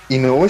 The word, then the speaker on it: Inoue: cual, me voy a poner medio rupturista, pero Inoue se pronuncia el autor de Slam, ¿cierto?